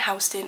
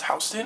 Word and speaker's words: Houston: corner of thompson and houston which one of you guys goes is that really how you pronounce houston we're not texas it's not houston okay sorry i called it